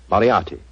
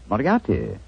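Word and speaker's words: Moriarty: I'm afraid I'll have to begin calling it the way it looks. M O R I A R T Y. Miati. Moriati.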